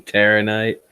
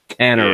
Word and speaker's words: Tannerite: Yeah, some Terranite. Tannerite. Yeah. I always say it wrong. Tannerite.